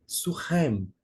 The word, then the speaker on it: Siquém: E porque a pronúncia Sicar seria Surré, e Siquém é Surrem, expressões bem parecidas.